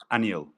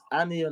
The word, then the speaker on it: Anil: repeating your name so I'll make sure I'm pronouncing it correctly okay a n i l annel all right anel nice to have you here likewise thank you